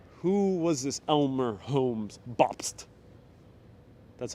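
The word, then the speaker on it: Bobst: was this elmer holmes bopst that's how you say it that's how you pronounce it officially it's gotta really get into that st it's a library it's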